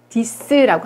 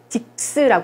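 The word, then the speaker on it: dix: 10 디스라고 합니다. 이것도 딕스라고 하지 않아요? 디스예요.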